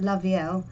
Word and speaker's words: la vielle: Oh yeah, la vielle, pronounced la vielle, unlike the general rule for 2 L's together making a Y, like in la fille, which is the girl, isn't it?